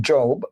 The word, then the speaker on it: Job: In this Hebrew tradition, in the book of Job, pronounced Job, J-O-B-E, is a story of a man who is tested by God and Satan.